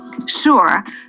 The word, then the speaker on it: sure: Sure, this does not sound like sure. It sounds like sure. Sure. One syllable.